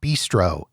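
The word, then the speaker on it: Bistreaux: up it's Walk-On's sports Bistro at Harrah's Now Bistro you can tell it's fancy because they don't spell it b-i-s-t-r-o they spell it b-i-s-t-r-e-a-u-x so it's a bistro French I don't know anyways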